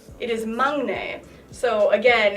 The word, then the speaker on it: 막내: know it it most people crown said its maknae that is wrong it is not not like